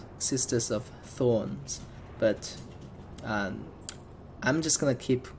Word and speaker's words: Sisters of Thorns: more unit of the sisters of thrones as well I kept laughing on whenever I pronounce this name is because actually mispronounce it it's actually assistive sisters of thorns but I'm just gonna